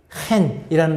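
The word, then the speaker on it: חֵן: 한국말로 은혜 혹은 영어로 그레이스라고 번역된 히브리어 원어는 큰이라는 단어입니다 우리 우리 한국 발음에는 그런 발음이 잘 없잖아요 이렇게 히브리어에는 큰이라고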